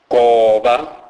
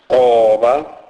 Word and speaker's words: goba: G is pronounced as K. K. It is pronounced as in the English words golf or gather. It is never given a G sound as in the word gentle, e.g.